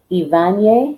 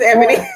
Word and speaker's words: Ebony: It's Ivanye. I believe it's Ebony. how you pronounce her name. Ebony. Mm-hmm. And I said the same thing too, but it's Ebony.